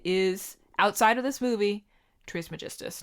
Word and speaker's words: Trismegistus: I do like the name Glaken Trismegistus.